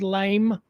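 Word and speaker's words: Laimhín: to be lime it's it's like 15 letters but it's probably just pronounced lime Nikita lime spelled l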